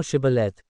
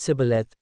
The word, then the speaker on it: Shibboleth: 6 Then said they unto him, Say now Shibboleth. And he said Sibboleth, for he could not pronounce it right.